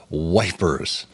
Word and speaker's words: Ypres: press which was in ipra uh but of course brits being brits they see ypres yipra and pronounced it as wipers classic tommy slang as they call it